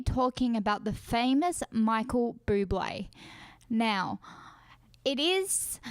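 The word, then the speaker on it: Bublé: going to be talking about the famous Michael Buble now it is spelled like bubble but it is pronounced blue boy but I just really love Michael Buble and I feel like he is an inspiration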